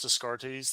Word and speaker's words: Descartes: Yeah, but so and I want to give a shout out to these guys, Adeptus Descartes.